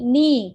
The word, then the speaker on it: knee: For example, knee, K-N-E-E, knee, spelling is K, but K is silent.